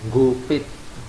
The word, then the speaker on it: Gopit: suasana dusun tersebut, yaitu Gopit. Mungkin ejaannya tanpa huruf N. Mengapa demikian, Pak? Hanya warga lokal. Oh, orang Jawa menyebutnya dengan huruf NG.